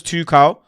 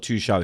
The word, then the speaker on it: Tuchel: And finally, Thomas Tuchel, because that's how you pronounce it. It's not Tuchel, it's Tuchel. Tuchel. Yeah, Tuchel.